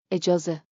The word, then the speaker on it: اجازه: Chunk it like music. E-ya-z, da-ram. اجازه. Permission, plus. دارم. I have. Tip. EJ's, sounds like, a jaw says, a jaw that always asks first.